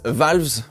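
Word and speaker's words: Vowles: Et c'est donc James Valves, comme on prononce en anglais, le responsable de la stratégie chez Mercedes qui prend les rênes de l'écurie de Grove.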